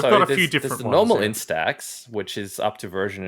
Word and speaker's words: Instax: themed version of their in-stack in i always like mispronounce this instead instax yeah mini link polaroid